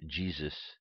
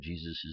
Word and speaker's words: Jesus: the original pronunciation of Jesus name English places the accent of G rather than on soos for this reason that